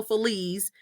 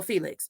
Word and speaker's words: Feliz: it right, and FELIZ, even though the Z in Spanish is pronounced como un S. Feliz ain't no Feliz, and definitely ain't no Felix.